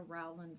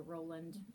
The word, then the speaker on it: Rowland: see somebody talking about a rowland stand or could even be a roland so it's spelled r-o-w-l-a-n-d um that's the floor